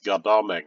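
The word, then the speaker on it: Godalming: godholding except you know i think in like alms british people don't pronounce the m so it's goddamming or um peter's field on farnam 325.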